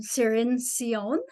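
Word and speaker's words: Cirincione: How do you pronounce her name? Cirin.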